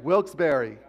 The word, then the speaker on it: Wilkes-Barre: in in at the Wilkes bar is that how you say it by the way Wilkes-Barre Wilkes-Barre I was so nervous about this last night how am I going to pronounce yes Wilkes-Barre thank you wilkesbury got it okay please forgive me